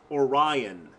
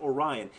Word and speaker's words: Orion: surprised she did this was Orion it is pronounced Orion if you're going to